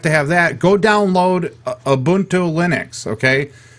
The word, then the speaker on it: Ubuntu: Go download Ubuntu Linux, okay? I can't pronounce that right. So say that again. Ubuntu. Ubuntu? Ubunto. Ubuntu. Ubuntu.